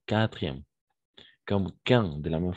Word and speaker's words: quatrième: On saute le U, quartier, quatrième, quatre, quand, etc.